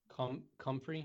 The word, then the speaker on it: comfrey: Hard C. Comfrey.